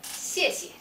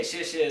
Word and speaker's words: 谢谢: Yeah, most of the students, they pronounce like SH sound, like 谢谢. Yeah. But actually, if you pronounce that, do remember, make a very clear sound. We say 谢谢 instead of say 谢谢.